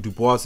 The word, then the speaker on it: Dubois: His hatred of self was a lot more subtle than ruckus, but it's small things like the fact that Dubois is given a French pronunciation, or his obsession with his Eurocentric heritage.